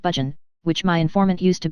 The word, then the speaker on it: Burgoyne: Nutting had a famous foxhound named Burgoyne, he pronounced it Budgeon, which my informant used to borrow.